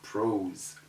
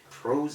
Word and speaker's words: prose: types of literature and it is not called prose it is called that s is between o and e in the word it also satisfies all the conditions of the rule so it takes a z sound instead of that ordinary s sound so we call it